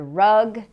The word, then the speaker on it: rug: to understand you, because in English we have no relationship between H and R. For example, with the word rug and hug.